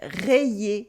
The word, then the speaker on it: rayer: And this is the weird difference between rayer to scratch, rayer, and railler to mock, railler. Rayer has an Y, so you can split it into, as we saw before. It makes railler. But railler breaks into ra, y, et railler.